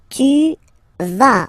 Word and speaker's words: tu vas: Tu vas. Final S doesn't exist.